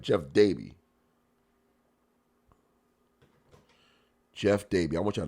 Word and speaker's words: Jeff Dabe: Jeff Day.